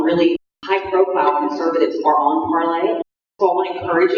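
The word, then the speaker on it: Parler: high-profile conservatives are on Parlay. So I want to encourage you, if you've not gone over to Parlay yet, that's a French term which means to speak. It's actually spelled like parlor, P-A-R-L-E-R.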